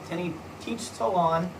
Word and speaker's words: Tenochtitlan: city of 300,000 people, Tenochtitlan. Okay, I believe that's how you say it, but again, pronunciation.